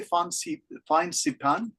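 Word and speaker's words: Fansipan: Is my pronunciation okay? Phan Saipan?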